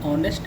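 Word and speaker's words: honest: नेक्स्ट है एन ऑनेस्ट मैन, ऑनेस्ट है, एच यहाँ पे साइलेंट है, लिखा तो जो गया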